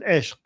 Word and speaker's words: ishq: Let's start with ishq. It's kind of hard for people to pronounce the q. Okay. You could say ishq, ishq, like just say g at the end.